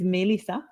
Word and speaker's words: Mélissa: say my name but my my american version of it just say may m-a-y like the month i am born in and that will give